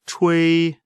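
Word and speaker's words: chui: meridian the pronunciation of tui is pronounced as the ch and the english word chinese and way similar to a in way the pronunciation is assisted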